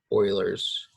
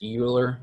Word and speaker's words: Euler: chapter is focused on something that we call Euler's form them so yes it looks like it's would be pronounced Euler but it again it is Euler it's not